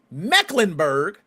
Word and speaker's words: Mecklenburg: Let me pronounce that right. Charlotte Mecklenburg.